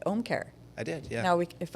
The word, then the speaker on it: Ōmcare: See, you said it right, Ōmcare.